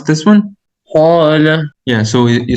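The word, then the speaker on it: قال: And as we will know, that this Alif, we pronounce it with heavy sound when there's a heavy letter before it. Am I right? Yeah. Yeah. So can you please pronounce this one? Qala.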